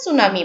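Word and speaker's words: tsunami: এটার অন্যতম একটা কারণ সুনামি সুনামি শুরুতে থাকলে আমরা উচ্চারণ করে সুনামি বলি সুনামি ন্যাচারাল ডিজাস্টার এটা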